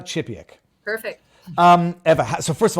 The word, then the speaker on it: Chipiak: Everybody, for those who have never met Eva, it's Chipiak, right? I'm pronouncing. And the first name usually people get wrong, so thank you. You got it right. So Eva. it's not Eva Chipiak. It's Eva Chipiak.